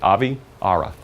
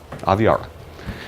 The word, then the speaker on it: Aviara: There's the phonetics. Aviara. Just if you look at it, break it, take the I and put a little, separate it. Aviara. Aviara. That's how you pronounce it.